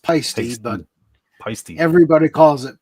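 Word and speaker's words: Paiste: It's actually pronounced pasty, but pasty. Everybody calls it paste, you know.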